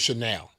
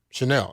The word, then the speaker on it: Chenal: He say his name is Chanel. Okay. That's how he say pronounce it. So, Chanel. Like the perfume. Isn't that Chanel? Chanel.